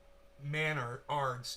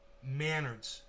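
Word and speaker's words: Menards: Pronounced Manards. It's the Canadian Home Depot. Manards. Like manners, but Manards, like manners with a D.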